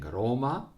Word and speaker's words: Roma: cities in Italian speaking: Roma, with the accent on the first syllable, and Napoli with accent on the first syllable.